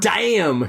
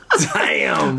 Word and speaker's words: Daim: So I'm sorry in Swedish it's like damn or something like that, right?